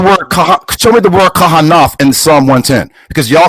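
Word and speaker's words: כהן: looking at the word what you're pronouncing Cohen what we would say Kahan in Psalms 110 and4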